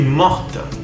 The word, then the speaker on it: morte: Si eres una chica, je suis morte. Al agregar la E, la T se va a pronunciar. Sin la letra E, la T no se pronuncia.